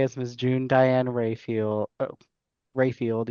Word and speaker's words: Raphael: Um so our guest judge today is Miss June Diane Rayfield Rayfield even though it spelled like Raphael.